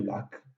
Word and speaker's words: lac: C'est le cas, par exemple, du C final de tabac, qu'on prononce comme ça, et de lac, qui par contre, on prononce encore aujourd'hui avec le C final.